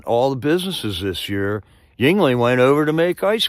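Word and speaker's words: Yuengling: right it's right Colorado it's Yingling I still don't know how to spell it but uh I know how to say it y u ening Shiner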